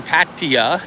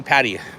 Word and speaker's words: Pattaya: We're in here in Pattaya, Thailand. Or Pattaya, Thailand, or however you want to say it. Kitty, how do you say Pattaya?